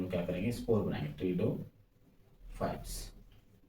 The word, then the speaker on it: Pteridophytes: गया और ये आपका टिडोफाइट्स हो गया जिसके अंदर हम लोग क्या करेंगे स्पोर बनाएंगे टिडो फाइट्स टिडोफाइट्स में पी साइलेंट होता है याद रखना है